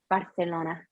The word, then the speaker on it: Barcelona: Spaniard, Barcelona. Because they say a C like TH. Barcelona.